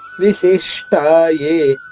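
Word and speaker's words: విశిష్టా యే: విశిష్టాయే షీ పైన ఆఘాతం ఉంది. స్టాలోని షాద్విత్వం చేసుకుంటూ అంటే 2 షాల్ అవుతుంది.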